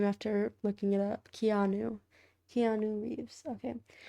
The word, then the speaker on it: Keanu: We could just keep saying canoe. No, it's wrong. It's mean. It's It's not kind to mispronounce someone's name after looking it up. Keanu.